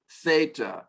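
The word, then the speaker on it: θῆτα: There's no line over the E, there should be. Eta, theta, should be a line over that E as well to get that long pronunciation, but that's okay.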